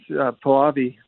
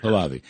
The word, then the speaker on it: Pahlavi: process to work, we have a crown prince, Pahlavi, the Shah's son.